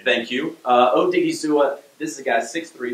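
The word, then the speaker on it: Odighizuwa: months to get that rightt credit for the pronunciation thank you uh odiga this is a guy 63 267 ran a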